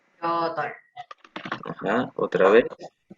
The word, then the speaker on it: 여덟: 여덟, Ajá, otra vez. 여덟, Ajá. Es como yotol. ¿Ok? No se pronuncia exactamente como está escrito.